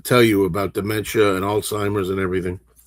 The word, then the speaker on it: Alzheimer's: I looked it up and I said, "No, no, there's a even it's like that's the way it's pronounced like a slight T sound alzheimer's."